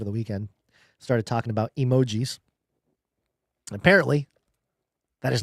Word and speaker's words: emoji: Uh now just a little side note, spending some time with family over the weekend started talking about emojis. Apparently that is not how you pronounce it.